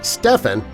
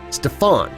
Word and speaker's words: Stephen: Rather than calling him Stephen, they called him Stefan.